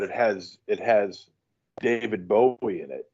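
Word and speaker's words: Bowe: David Bowie well it's not spelled the same way it's b-o-w-e it's it's yeah it looks like it looks like bow it's pronounced Bowie though yeah I've forgotten I've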